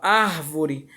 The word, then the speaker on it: árvore: A proparoxítona é a sílaba tônica classificada como uma sílaba quando ocupa a antepenúltima sílaba no lugar da sílaba. Ou seja, temos aqui a sílaba, o que é a palavra árvore.